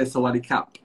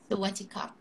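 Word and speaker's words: สวัสดีครับ: So different genders will greet differently. So for a woman, I'll say Sawadika. And I'll say Sawadikap. Sawadikap. You say Sawadika. Sawadikap.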